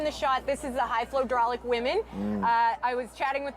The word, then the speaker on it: High Flow Hydraulic: the name that we They get a lot of different pronunciations of their sponsor name, but their favorite and most hilarious one is hydrophalic, so that's a little bit of fun. But it's high flow hydraulic is the name going of the up the pond.